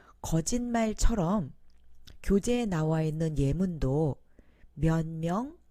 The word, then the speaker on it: 몇 명: 먼저 면명, 받침소리 디귿이 미음 앞에서 니은 소리로 바뀌었습니다. 몇 명이 오실 겁니까?